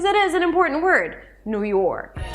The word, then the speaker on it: New York: The stress falls on the second word. But new is kind of stressed too because it is an important word. New York. New York.